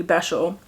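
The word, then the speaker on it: Besźel: pronounces these words, because these were not the pronunciations I had in my head reading this book. But we have our first city, Beshel.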